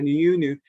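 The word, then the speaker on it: Anionwu: Cystic fibrosis, a paper that came out from Dame Elizabeth Aniunu, and pronounce her name properly, Aniunu, who basically is emeritus professor from Sickle Cell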